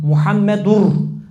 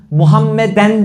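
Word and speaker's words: Muhammedür: 4ü hakı nedir Arkadaşlar doğru telaffuz la ilahe illallah muhammedur Muhammeden değil Bak buraya iyi dinleyin Muhammeden değil Muhammedin değil Muhammedün değil muhammedur Resulullah orada Mübteda haber ötre var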